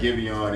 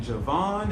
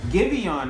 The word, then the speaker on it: Giveon: I How said you pronounce Javon. his name right. Okay. I was saying Javon and some more shit.